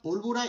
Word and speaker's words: pólvora: Carbón y pólvora de nitrato. Pólvora. Déjame eso ahí. Carbón y pólvora de nitrato. Vale, agáchate, sí. Vale, vamos a ver. Pólvora. Con acento en la O, sí.